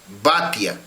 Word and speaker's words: Batia: Y en esa enseñanza Rabino nos enseña sobre esta hija de Faraón, Batia. En hebreo se escribe Bat, que quiere decir hija, Ya. Bat, Ya, como si dijéramos Batia, Batia, hija de Yahuá.